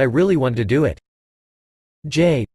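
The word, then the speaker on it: Jai: wanted to do it Jay pronounced Jay had always been my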